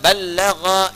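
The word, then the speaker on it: بَلَّغَ: Dari kata ballagha yuballighu. Ya. Ballagha dibacanya, bukan bahasa Sunda balaga, ya.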